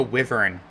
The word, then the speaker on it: wyvern: frequently mistaken for Dragons why fern I keep forgetting it's pronounced wyvern at least in this game